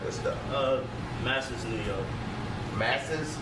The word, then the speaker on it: Masses: Masses. Masters. You gotta spell it.